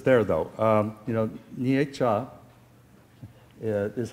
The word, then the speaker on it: Nietzsche: know it would know that's a two-syllable word nietzsche okay um even even